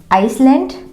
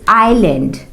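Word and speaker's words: island: यहां पे लिखा हुआ है आइसलैंड, नो, इट्स आइलैंड। इट्स आइलैंड।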